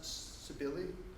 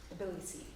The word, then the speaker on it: Tbilisi: Initially supported by the, is it pronounced Sibili? Tbilisi. Tbilisi. Georgia.